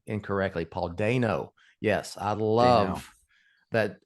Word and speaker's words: Dano: I realized for the longest time all through covering the Batman, I was pronouncing that man's name incorrectly. Paul Dano.